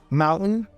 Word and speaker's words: mountain: are some examples we also say curtain curtain Mountain Mountain men happen Manhattan and the same thing